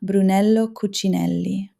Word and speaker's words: Brunello Cucinelli: And pay attention to how it is actually pronounced, won't you? Loro Piana, Brunello Cucinelli, Hermès.